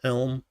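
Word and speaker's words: Chełm: Yes, I know there's a C there, but apparently it's pronounced Helm.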